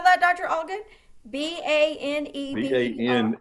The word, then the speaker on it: Baneberry: Baneberry. Bane, Berry. Not Bangberry, No. Baneberry.